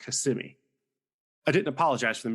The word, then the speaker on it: Kissimmee: a town named Kissimmee I pronounced it kiss on me when I saw it on the sign and it was promptly corrected and told it's pronounced Kissimmee I didn't apologize for